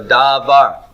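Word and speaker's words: דבר: Okay, the first syllable or the second syllable, which of these is the stressed syllable? Second. The second one. Why did you stress the second one? Default. Yeah, that's default stress.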